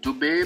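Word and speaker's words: Dube: à tous lcky Philippe doubé prononcé doub né le 3 août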